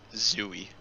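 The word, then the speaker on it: Tzuyu: so would love it the pronunciation is just zooey zooey okay well everything's about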